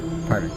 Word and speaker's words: Parvan: That's how you say it, right? Parvon? Parvan? Yeah. Parvan.